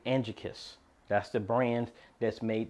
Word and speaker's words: Angekis: same all right folks so I stand corrected if I mispronounce the name it is actually Angie kiss that's the brand that's